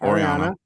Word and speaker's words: Oriana: And then this is where we find out Oriana, is that how we say her name? Yep, Oriana.